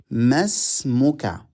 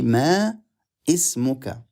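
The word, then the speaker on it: ما اسمك: Masmuka. Masmuka. We don't say ma ismuka. No, we don't need to pronounce the stretching alif. We don't need to pronounce the starting alif.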